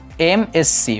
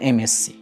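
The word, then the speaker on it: MSc: সো এই এম উচ্চারণের আমার স্টার্টিং হচ্ছে এ দিয়ে অথবা ই দিয়ে। এই কারণে আমাদের সাউন্ডটা, উচ্চারণের যে সাউন্ডটা, আমরা আগেই বলেছি আর্টিকেল কিন্তু সাউন্ডের উপর ডিনোট করা হয়। সো সাউন্ডটা আসছে এম, অর্থাৎ ভাওয়েল সাউন্ড দিচ্ছে।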